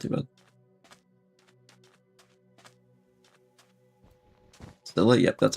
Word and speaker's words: Scylla: I know some people say Scylla or Scylla. Scylla's what I've always heard, and I once had a actual Greek mythology professor say Scylla.